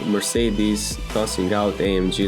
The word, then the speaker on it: Mercedes: Now, about Porsche naming system is not like Mercedes tossing out AMG like confetti. By the way, Mercedes, not Mercedes or BMW.